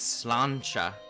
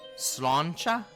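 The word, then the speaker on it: sláinte: Cheers is slancha. Slancha?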